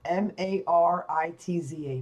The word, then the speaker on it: Maritza: number one question number two my first name that's spelled right here m-a-r-i-t-z-a maritza my last kiss was probably about about